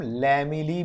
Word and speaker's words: lamellae: Freight का एक नाम और है, इसको हम लैमिली भी बोलते हैं।